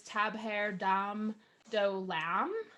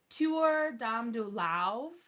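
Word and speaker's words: Tabhair Dom Do Lámh: looks on paper it looks like it says tab haired um dole am and we didn't know how to how to pronounce that so I just asked if there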